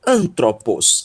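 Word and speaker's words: ἄνθρωπος: que os outros né a palavra antropos Ok então antropos é a pronúncia desta palavra e vamos para a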